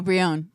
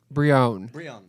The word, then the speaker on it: Brionne: No, Brionne. Brionne.